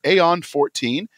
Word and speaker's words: Aeon 14: He lets these dreams have come to life in the series of books in a world called Aeon 14. Did I pronounce that right?